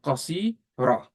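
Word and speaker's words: قصيرة: But if I want to say qasir, how would you, and at marbuta, how would you pronounce? You say qasira.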